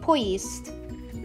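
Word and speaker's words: поезд: And that spells poyest. Or it's pronounced, and in American it would be pronounced poyest.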